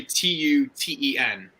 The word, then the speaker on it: Tuten: his last name 210 it's literally t-u-t-e-n Tuten there you go to 210.